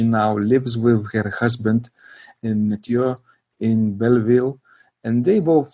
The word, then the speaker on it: Mathieu: And am I pronouncing his name correctly? Yes, Mathieu. Mathieu.